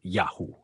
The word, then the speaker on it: Yahu: Por outro lado, parece claro que a pronúncia original de Y era Yahoo ou Yahu.